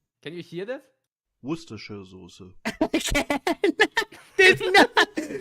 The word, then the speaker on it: Worcestershire: Abby just said she doesn't even know how to pronounce Worcestershire. Does anybody know I do. Worcestershire.